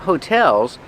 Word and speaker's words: hotel: And there are a lot of hotels because it's a tourist town. Remember, hotel, put the stress on the second syllable. Hotel. Not hotel, but hotel.